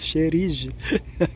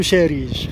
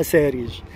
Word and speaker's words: صهريج: واحد الاخ قال لي كتقول شريج، خاصني نقول سهريج سهريج السواني. لحقاش والفنان قولوا ساريج، واخا دابا في الكتابه كنكتبها سهريج ولكن في النطق تنطقها ساريج.